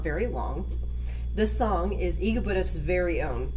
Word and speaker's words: EGBDF: It said E-G-B-D-F.